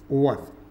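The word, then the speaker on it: were: इसका उच्चारण लोग गलत करता है बाबू, ध्यान दीजिएगा इसका उच्चारण क्या होता है, वर।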